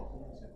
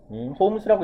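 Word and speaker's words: Holmes: 홈즈. 홈스라고 읽으면 돼요. L은 묵음이에요.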